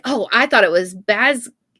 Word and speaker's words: Basgiath: And the reporter was like, oh, I thought it was Basgiath. Basgiath. Yeah, That's how I was thinking. yeah, and the author was like, that's actually a more accurate Gaelic pronunciation.